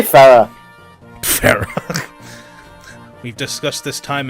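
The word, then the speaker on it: Pherae: Ferre. Just say Farah.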